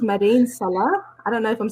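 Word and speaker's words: Mada'in Salih: i cannot remember the name i think it's madin salah i don't know if i'm saying it wrong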